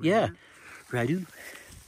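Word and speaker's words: Rideau: d e a u that's a French name Ru he got he got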